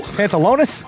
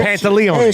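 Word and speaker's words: Pantoliano: Pantalone. Yeah, now you're missing a syllable. Pantaleone. There it is.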